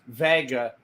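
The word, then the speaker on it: Wega: Sony Vega but but officially it's a waga but still pronounced Vega and the logo looks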